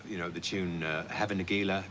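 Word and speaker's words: Hava Nagila: know the tune uh have a negela it's played at sporting events as well as bar mitzvahs and briskets isn't it actually pronounced java negular no it's actually havin aguila oh the song was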